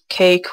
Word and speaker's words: cache: Cake, whatever it's pronounced, but it's spelled C-A-C-H-E, and that will pretty much clear all the data for a faster download of Optifine.